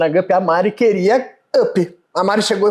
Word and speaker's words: UPY: E fica UPY, ainda assim a pronúncia é Up.